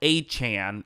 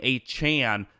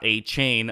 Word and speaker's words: Achane: let's talk about Devon achan and yes that is how you say his name a Chan not a chain uh he used to be called a chain but he eventually corrected